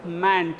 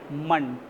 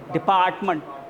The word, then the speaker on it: department: Similarly, we do not pronounce as mant, it's not mant, munt, department.